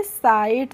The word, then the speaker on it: sight: Simple सा rule है, जब भी किसी वर्ड में IGHT एक साथ आते हैं तो उनका प्रोनाउंसिएशन हम करते हैं आइट। क्या करते हैं? आइट करते हैं। इसीलिए SIGHT को हम पढ़ेंगे साइट।